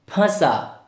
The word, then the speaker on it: फंसा: जब चंद्र बिंदु लग जाता है तब हम क्या करते हैं? नाक और मुंह दोनों की सहायता से उच्चारण करते हैं। कैसे? फ, फंसा, फंसा। फंसा नहीं, फंसा, फंसा।